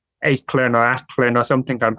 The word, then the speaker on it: Aichlinn: The way I pronounce it is Aichlinn, and that's based off my dad's pronunciation.